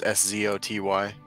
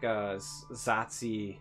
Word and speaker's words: Szoty: It's Szoty. He's a Reddit poster. Oh, yeah, I always say like Zatsi Mag in my head or whatever, but I